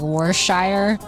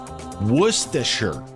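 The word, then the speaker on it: Worcestershire: I always call it like worshshire but I know that's not it. So according to this the um the correct pronunciation of that is worsher.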